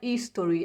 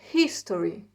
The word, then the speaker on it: History: história History tá History a gente pronuncia o h com som Dr Tati History tá não é Story é History ok a arte arte é